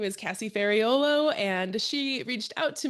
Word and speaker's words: Ferraiuolo: So, you didn't because that's how we would say it the Americanized way. Folo.